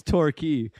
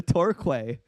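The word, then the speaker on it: Torquay: When we were talking about a place in England, it's it's torquy. And I was like, "Oh, look. Let's go to Torquway."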